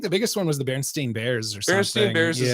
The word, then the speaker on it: Berenstain: one was huge yeah berenstein bears it's actually berenstain bears the way the way it's spelled but that that's like